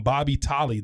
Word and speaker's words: Bobby Tolley: We just heard from Bobby Tolley. Did I say it right? You got it, brother.